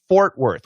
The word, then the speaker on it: Fort Worth: Fort Worth. We keep both the R's, Bernard. Fort, get that or, and were. So the ORs are different.